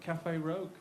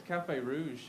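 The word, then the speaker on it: Café Rouge: And he went, Cafe Rogue. And I said, no, mate, it's Cafe Rouge.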